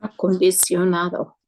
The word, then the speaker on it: acondicionado: So just that syllable is not shun, it's sion. Sion. Sion. Acondicionada. Bien. Acondicionado.